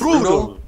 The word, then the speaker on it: Brudel: How is it pronounced? Brudel. Brudel. Brudel. All right. Rhymes with strudel.